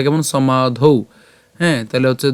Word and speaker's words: সমাধৌ: একটা ব্যতিক্রম উচ্চারণ এর উচ্চারণটা কেমন করছি আমরা সমাধৌ এখানে সমা পর্যন্ত উচ্চারণ করার পরে এই যে ধ আকার আছে